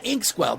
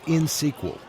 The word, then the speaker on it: Inxsql: Harry, it's insql. You don't pronounce the X.